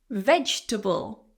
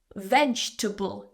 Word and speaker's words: vegetable: Eat your vegetable. So again, a common mispronunciation is vegetable. I know it looks like it has table at the end, but it's table. Vegetable. Just 3 syllables here.